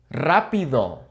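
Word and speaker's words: rápido: Rapido. Rapido. Okay. Now, what's going on here? This is a singular R. Why are we rolling it?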